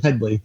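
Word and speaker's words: Hedley: People probably aren't aware of who Hedy Lamarr was and why he thinks why he's so offended when people say his name is Hedy instead of Headley.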